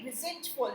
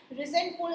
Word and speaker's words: resentful: okay, R-I-Z की जो है pronunciation हो रही है resentful. ठीक है, resentful is the correct pronunciation here.